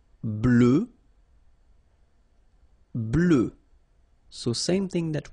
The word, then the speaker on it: blanc: form here okay so here masculine BL don't pronounce the final C and then blanch okay